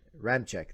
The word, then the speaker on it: Ramczyk: Ramczyk, thank you.